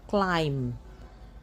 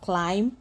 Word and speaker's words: climb: You do not pronounce the B. The B becomes silent. So, you have climb, bomb, thumb, dumb, comb, lamb, numb, and crumb.